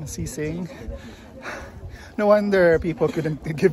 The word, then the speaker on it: Qixing: So the spelling differs sometimes, but here that's how it's spelled. Elsewhere it starts with Q and then X. This one is with a C and an S, but the pronunciation is more or less the same.